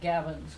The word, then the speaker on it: Gavin: And this is sort of an introduction to Gavin, that's how you pronounce it? Gavin. Gavin or Gavin? Gavin.